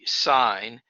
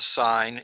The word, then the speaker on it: sine: so we define the sine and that is called sign not sin uh and it's spelled